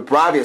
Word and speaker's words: Bravia: models we have the Bravia series we actually have a Bravia television set over here or Brava depending how you want to pronounce it we're going to tap